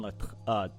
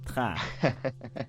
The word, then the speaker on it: Latran: It's Latran, not Tran.